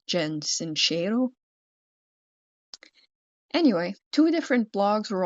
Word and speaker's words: Sincero: Jen Sancho and we've been pronouncing the author's name wrong the entire time because I've been we've been saying Jen Sincero and it's Jen Sincerero.